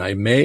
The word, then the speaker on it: Aimée: is ibon I may and I may is spelled a i m e she was born in